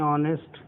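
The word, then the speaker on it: honest: ऐसी ऑनेस्ट के साथ कहानी है, ऑनेस्ट, ऑनेस्ट भी लिखा हुआ तो एच से है मगर साउंड इसकी यहाँ से शुरू होती है, एच साइलेंट।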